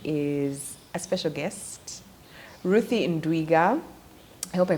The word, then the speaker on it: Ndwiga: for this discussion is a special guest Ruthie Inda I hope I pronounced your name right yes you do yeah